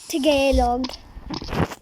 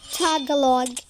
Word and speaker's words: Tagalog: Hindi niyo nila nga ma-pronounce ng Tagalog yung pino-pronounce nila. Tigelog. Ano? Tagalog. Yun yung sinasabi nila.